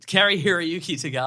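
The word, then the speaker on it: Cary-Hiroyuki Tagawa: Carrie Hiroyuki Tagawa.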